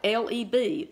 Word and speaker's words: leb: Did you know the only times that this word, and it's spelled L-E-B, Leb, and it's number 3820 in the Hebrew, and it's used 598 times in the Old Testament.